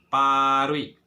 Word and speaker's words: paruik: itu contohnya sebelumnya Oke jadi perut kita ganti huruf vokal yang pertama menjadi huruf a oh UT kita ganti menjadi uik quick jadi bacanya paruik Oke kalau teman-teman sudah